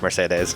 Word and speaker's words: Mercedes: It's pronounced Mercedes.